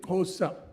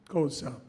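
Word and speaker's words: Xhosa: the Timbu or the I have to say Kosa very difficult to pronounce that phrase. I learned a bit of that in England with my South African friends. Kosa his father was a chief of their tribe.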